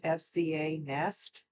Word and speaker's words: FZANEST: The brand name is pronounced FZANEST, and let's go ahead and get started with them.